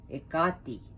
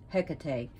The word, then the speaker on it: Hekate: the greek titanos goddess egatti we and i know in the west ha like in america and other places call her hecate but her greek pronunciation is so and i find pronouncing